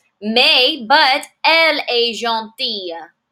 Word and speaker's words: gentille: Mais, but, elle est gentille. Gentille. Listen to that different pronunciation. Masculine, gentil. Feminine, gentille. I have a double L followed by an E, gentille.